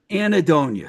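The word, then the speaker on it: Anhedonia: Um, and then, I know you put out, I always have trouble pronouncing this, Anedonia. Is that how you say it? Anadonia. Anedonia. Sorry. Yeah. So the H is silent, and I'm Yeah.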